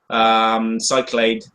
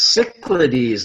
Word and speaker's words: Cyclades: Pronunciation. Okay. I mix everything up in my head. I am a screwball cyclade of milkshake in my head. It's Cyclades.